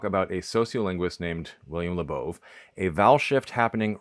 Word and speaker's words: Labov: Beginning in the 1960s, William Labov, the founding father of modern sociolinguistics, and yes, it's pronounced Labov, who was one of my academic advisers, started